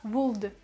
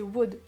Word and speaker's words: would: je vous rappelle que would s'écrit avec un L avant le D, mais le L ne se prononce pas, donc faites bien attention à la prononciation, ne dites pas would.